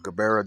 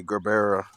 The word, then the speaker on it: Gerbera: We have a Gerbera daisy here, Gerber daisy or Jabera, however you want to pronounce it. I say Gerbera daisy.